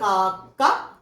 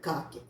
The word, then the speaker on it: കാക്ക: അത് എന്തുകൊണ്ടാണെന്ന് ചോദിച്ചാൽ, ആദ്യത്തെ ഖരാക്ഷരങ്ങളിൽ ആദ്യമായിട്ട് വരുന്ന ഖരാക്ഷരത്തിന് ഖരത്തിന്റെ ഉച്ചാരണമുള്ളൂ. രണ്ടാമതാ വരുന്നതെന്ന് വെച്ചാൽ ആ ഖരാക്ഷരത്തിന് മൃദുവിന്റെ ഉച്ചാരണം വരും. അപ്പൊ ഇവിടെ ഗ എന്ന മൃദുവായിട്ടാണ് നമ്മൾ ഉച്ചരിക്കുന്നത്. പക്ഷെ നമുക്ക് വേണ്ടത് ഖരാക്ഷരത്തിന്റെ ഉച്ചാരണം തന്നെയാണ്. അപ്പൊ നമ്മൾ എന്ത് ചെയ്തു? ആ കായിൽ കൂടെ ഒരു കാവും കൂടെ ചേർത്ത് ക എന്ന് ഉറപ്പിച്ചു. അങ്ങനെ കാക്ക എന്ന് എഴുതി.